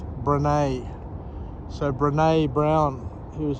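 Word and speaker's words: Brené: get her name wrong i used to call her brainy but i've since learned that her name is pronounced brene so brene brown he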